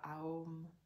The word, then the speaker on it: Aum: 21 répétitions du mantra Aum. Encore une fois, on prononce A ou M de façon égale pour vraiment créer cette harmonie à l'intérieur de nous.